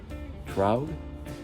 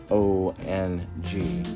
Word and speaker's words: Truong: And one of them, Jody, once again, I'm unsure of the pronunciation of her name, Anne Troug. It's Truong.